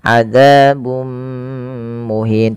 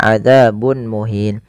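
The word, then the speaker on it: عذاب مهين: dommatain bertemu dengan mim yang ini kita namakan dengan bacaan idgham bighunah yaitu cara membacanya memasukkan tanwinnya kepada mim dan ditahan adzabum muhin tidak dibaca adzabun muhin.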